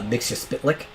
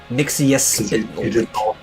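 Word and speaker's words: Mxyzptlk: Mixospitlik. Or Mixoplex. Yeah. He pronounces it different ways in different universes and stuff.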